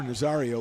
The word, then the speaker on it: Nazario: He'll face Adrian Ruiz, the number 9 hitter, then the top of the order, Nicholas O'Rourke and Benny Nazario. Or Nazario would be the right way to say that.